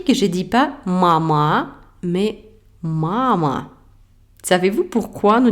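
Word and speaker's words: мама: Alors, mama. Maintenant, vous comprenez que la syllabe accentuée est la première ma.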